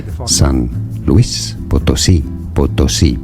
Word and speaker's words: Potosí: we just say the fucking San Luis Potosí, Potosí, because you have this accent on the end of. So it's Potosi.